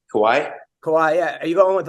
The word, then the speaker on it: Kauai: God, I always forget how to pronounce it. Kauai. Kauai.